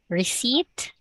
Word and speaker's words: receipt: So there is no letter P when you pronounce that one. Okay. Silent P.